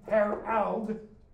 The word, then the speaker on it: Harald: I'm going to now emphasize a different pronunciation of the two, Harold and Harald. This one's Norwegian, this one's English.